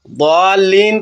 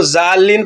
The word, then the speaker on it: ضالین: صحیح تلفظ ضروری ہے۔ ضالین کو ظالین پڑھنا ایک بڑی غلطی ہے۔ ضاد عربی حرف ہے، اس کا تلفظ زبان کو دانتوں سے لگانے سے آتا ہے۔ اگر ہم ذا کہیں تو معنی گمراہ ہونے والوں سے بدل جاتا ہے۔ تجوید کے اصول بتاتے